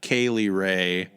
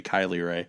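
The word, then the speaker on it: Kay Lee Ray: the Tegan NOx and Kaylie ray I always have to over pronunciate it cuz then I otherwise I say Kylie right which is another reference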